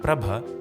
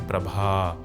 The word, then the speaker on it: Prabha: Almost all Indian female names would actually end in a longer syllable of A or E called Dirgha Swaras. For example, the name Geeta would in fact be Geeta. Gauri should have been Gauri and Prabha should have been Prabha.